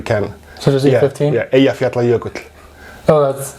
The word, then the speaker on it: Eyjafjallajökull: Yeah, Eyjafjallajökull.